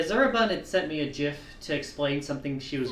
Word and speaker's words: GIF: Is it GIF or GIF? I need to gather intel. Okay. So, you do like the solid G. Gotcha. Yeah, I do the soft G.